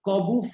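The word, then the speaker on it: Corbut: is our not Olga Corbett. Yeah, Corbett flip. So the move is the Corbett flip. So your answer is the Corbu flip. Yes. Named after Olga Corbu. The T is silent.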